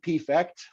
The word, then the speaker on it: P-Fect: Amy and Steve, Amy Pear, Steve P-Fect for short. Rhymes with defect.